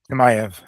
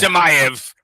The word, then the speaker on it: Chimaev: Chimaev. Jesus. Yeah. Chimaev.